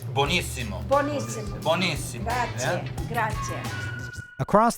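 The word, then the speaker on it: buenísimo: Buonissimo.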